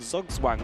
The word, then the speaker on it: Zugzwang: It's Zugzwang, yeah, where you're forced to make a move.